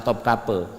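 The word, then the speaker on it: Topkapı: pergi misalnya ke istana topkape topkape itu di Istanbul ya tulisannya top Kapi bacanya top kape top kape ke istana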